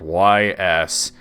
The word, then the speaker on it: Ys: it's an rpg and it was called ys i had no idea how to pronounce it but i remember that the title said east books one and two later